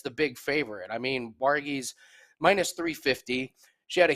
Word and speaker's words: Jauregui: It's pronounced Jauregui versus Estela Nunes.